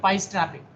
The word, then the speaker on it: pi strapping: Here also you need to pronounce like pi strapping. Sometimes someone will call some of the candidates will call p or pi radians.